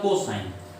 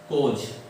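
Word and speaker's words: cos: वैसे इसको पढ़ा जाता है कोज, इस तरह से इसका उच्चारण होता है, लेकिन हम लोग कॉस ए साधारणतया पढ़ देते हैं, लेकिन पढ़ा क्या जाता है? कोज। इसे पढ़ेंगे कोज ए।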